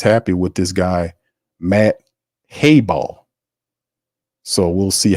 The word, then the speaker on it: Hayball: Got to pronounce it. I keep saying Highball. It's Hayball. Matt Hayball is the new punter.